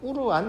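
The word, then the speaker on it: قرآن: 경전을 어떻게 다 봐 꾸란이라고 있거든요 이슬람 우리가 코란이라는 경쟁이 있어요 꾸란이라고 해요 꾸란 근데 이제 원래 발음이 막 꾸루한 뭐 그렇대요 아랍어가 우리가 발음하기엔 조금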